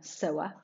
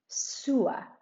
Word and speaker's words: sewer: careful we talked about a person who sews could be a sewer but be careful different from alcantaria sewer and sewing the activity to sew